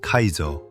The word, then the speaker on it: CAESAR: 프랑스가 내세운 건 Caser 발음하면 카이저.